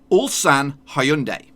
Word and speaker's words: Ulsan Hyundai: this is how you're supposed to say it all San Hyundai that's how you're supposed to say all San